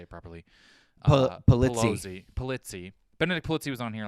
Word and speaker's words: Polizzi: Polizzi.